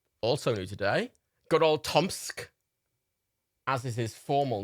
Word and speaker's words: TomSka: um we have also new today good old tomsk as is his formal name that's what he's doing